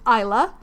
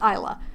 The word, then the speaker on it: Isla: So, in the audiobook, the author, Alex Astor, pronounces it Isla.